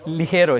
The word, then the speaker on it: Ligero: Sorry, Ligero, it's Spanish.